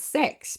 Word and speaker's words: CEHX: with the fact that is pronounced as sex because you have CX uh for customer experience you add the E and there you go you sex.